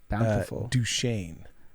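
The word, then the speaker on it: Duchesne: and uh but there's there's like duchene yeah which is spelled chesney i don't get that it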